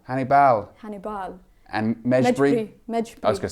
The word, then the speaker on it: Hannibal: his first name Hannibal it's not it's not Hannibal guys everyone's been saying it wrong apparently it's Hannibal Annie Bell Hannibal and I was